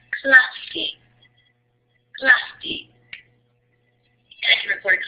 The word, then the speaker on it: clase: Hay que pronunciar la E al final de la palabra. Entonces se pronuncia clase.